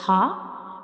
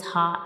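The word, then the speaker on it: ه: So these two letters are throat letters, ha and hamza, and these two letters are pronounced from the bottom of the throat, ha and hamza.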